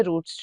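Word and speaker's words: routes: हैं कि कौन से रूट्स जो हैं, रूट्स या राउट्स, however you want to pronounce them, यानी कि तलफ़्फ़ुज़ दोनों ही दुरुस्त है, राउट भी ठीक है और रूट भी ठीक है।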